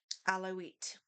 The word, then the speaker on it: Alawites: Alawites. A l a wii tes. I think alawites. Or no, I'm going to look this up. How to pronounce a l a w i t e. Okay. Allow it.